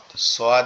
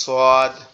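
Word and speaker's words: ص: সোয়াদ, দদ, একটা হচ্ছে নরম আওয়াজে হবে সদ, আরেকটা হবে কি মোটা আওয়াজ দদ, দদ।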